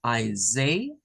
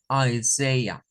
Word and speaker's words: Isaiah: En inglés lo vamos a pronunciar con I, la primera, ¿verdad? La I. Luego la S-A-I la vamos a pronunciar como Isaiah, Isaiah. Y luego con un show al final. Isaiah, Isaiah. Veríamos como tres sonidos, ¿verdad?